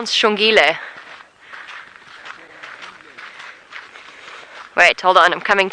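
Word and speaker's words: Xongile: far as I know shile the correct way to spell it the sh sound is X XO o n g i l e I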